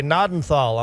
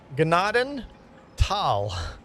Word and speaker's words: Gnadenthal: is not silent pronounced gennaden tal. Put that in the description. The H is silent. The H is silent. The G is not silent. The H is silent.